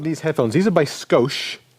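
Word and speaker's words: Scosche: these are by sco is that how you pronounce that name sco yeah I think that's right which is like let's just add a little sco scoa It's s s c o s c h e sco and these are the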